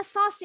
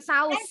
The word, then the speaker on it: sauce: Ini bacanya sauce ya, bukan saus. Kenapa? Kalau saus bahasa Indonesia ya.